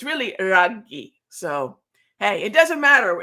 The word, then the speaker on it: Raghee: I've been called worse, but it's really Raghee. So hey, it doesn't matter as long as you spell it right.